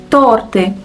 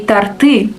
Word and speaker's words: торты: Example, торты. The right stress is on the first syllable, but people often confuse it and say торты.